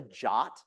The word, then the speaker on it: JWT: JWT Json web token sometimes called a jot I don't know why like why would you pronounce those letters jot I it annoys me but anyway that's like